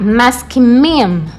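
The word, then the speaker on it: מסכימים: Então, vai ficar maskimim.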